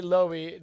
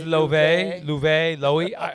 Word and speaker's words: Loewe: He is wearing Loewe. I loved this look. I know you didn't like it. We say Loewe, but it's Loewe. We say Loewe.